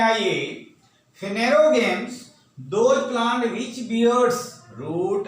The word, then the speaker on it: Phanerogams: को हम लोग फेनेरोगैम्स के रूप में, थोड़ा प्रोनाउंसिएशन टफ है इसलिए मैं बोलता हूं, उसको ध्यान से सुनिए. फेनेरोगैम्स और नोन एज फ्लावरिंग प्लांट्स, इसको फेनेरोगैम्स के रूप में भी जानते हैं.